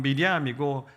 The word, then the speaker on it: 미리암: 여러분 이 히브리식 발음은 미리암이고 신약에 와서 헬라식 발음이 마리아입니다.